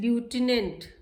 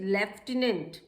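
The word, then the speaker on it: lieutenant: तो हम कहते हैं ल्यूटिनेंट. No, this is wrong. The right pronunciation is लेफ्टिनेंट. लेफ्टिनेंट. आप कहेंगे यहाँ तो कहीं एफ लिखा नहीं है, but this word is pronounced as लेफ्टिनेंट, नॉट ल्यूटिनेंट.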